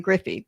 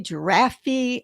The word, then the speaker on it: Griffey: years later there were there are baseball players named ken griffey but in in those days it was jerky giraffey i mean very yeah